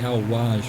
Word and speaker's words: Al Wajh: listed as wedge w-e-j-h it's right next to the town of al-waj w-a-j-h so i'm going to go with the al-waj pronunciation and yet again there's